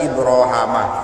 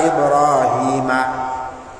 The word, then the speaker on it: Ibrahim: Wa fi qiraatin Ibrahama, dan dalam qiraah lain, ada riwayat qiraah lain dibaca Ibrahama. Berarti kalau dibaca Ibrahama, wa idzibtala Ibrahama, gitu nggih. Tapi kalau kita wa idzibtala Ibrahima.